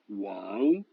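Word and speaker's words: 王: Le W, il se prononce comme dans William. Par exemple, le roi, wang.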